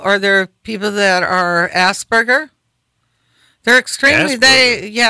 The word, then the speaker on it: Asperger: like being around people, or they're people that are Asperger.